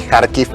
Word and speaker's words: Kharkiv: Kharkov sería en ruso. Sí, y si no, Y Kharkiv en ucraniano.